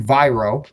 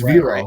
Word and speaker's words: Viro: So you could think Viro, but it's Viro.